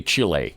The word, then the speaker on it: Chile: I refuse to say Chile. Yeah. Did he say it on the air? Go ahead. Yes. No. Did you say it on? He said it on the air. in his ear. It's chilly. Chilly. It's been chilly my whole life. It's still chilly. Yeah. Thank you. I'm not going to call it Chile.